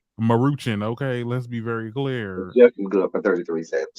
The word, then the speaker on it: Maruchan: as good you know they're muting how you pronounce it that's right Maruchan Maruchan okay let's be very clear for 33 said